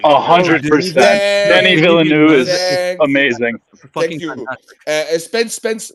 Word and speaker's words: Denis Villeneuve: Denis Villeneuve is amazing.